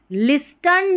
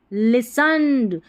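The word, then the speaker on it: listen: अम रियम auditorium auditorium and लिस्टंड नहीं एल आई एस लिस और turned पढ़ दिया नहीं क्या पढ़ेंगे इसको लिसन यहां पर टी जो है ना ये इसका उच्चारण नहीं हो रहा।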